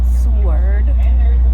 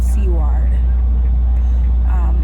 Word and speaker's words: Seward: I'm not going to sword sword that's how it's pronounced because I was eaten up when I caught it seaward anyways um it's my